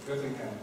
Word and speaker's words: Göttingen: Göttingen.